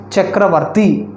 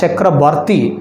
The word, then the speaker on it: Chakrabarty: developed to by whom Chakravarty actually we will pronounce the scientist named as a Chakrabarti because he belongs to bengal on Chakrabarty is it